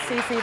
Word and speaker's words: Sisi: It's pronounced Sisi, by the way. Sisi, I'm sorry. It's okay. Thank you for having us. Just like the corn chips.